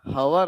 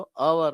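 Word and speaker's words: hour: next on ಅವರ್ okay ಹವರ್ ಅಲ್ಲ ಅದು ಅವರ್ ಅಂತ ಕರೀತಾ ಇದ್ದೇವೆ ಇಲ್ಲಿ ಆನ್ ಬರ್ತಾ ಇದೆ ಇಲ್ಲಿ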